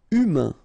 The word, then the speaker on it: humain: Humain, remember, H is not pronounced, A-I-N, un, humain.